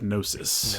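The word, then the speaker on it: Gnosis: I think I believe you would pronounce that nosis. Nosis. Okay, whatever. You don't pronounce that G. The G is silent.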